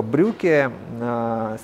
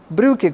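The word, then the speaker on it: Brücke: И изобретена она была не потому, что кто-то искренне возлюбил линолеум, а потому что немецкая арт-группа Брюке... Брюке. Брюке, как брюки, только в переводе «мост».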